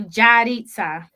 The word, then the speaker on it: Yaritza: So almost like Jaareetza. So Yaritza.